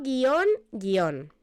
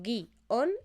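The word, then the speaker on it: guion: Básicamente porque yo pronuncio guión separado, ¿de acuerdo? Aunque técnicamente debería ser un diptongo.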